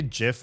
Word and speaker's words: GIF: Anyway, I say GIF like Gibb.